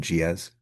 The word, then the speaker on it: Gilles: G I L L E S but you pronounce it GZ.